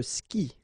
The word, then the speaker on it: skie: And then, je skie, okay? Exactly the same thing, je skie, okay? You get this I, and after that you get the vowel but then you don't pronounce it, all right?